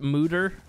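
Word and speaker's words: Moeder: Apparently it is pronounced Mooter because it's like a Dutch word or something. And it means mother, which is kind of cool, actually.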